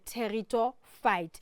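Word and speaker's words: Pteridophyta: um is called the terito fight so we've got the silent P there so we don't Sayo but it's called territor fights so let's quickly look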